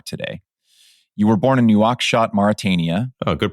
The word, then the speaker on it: Nouakchott: You were born in Nouakchott, Mauritania. Oh, good pronunciation.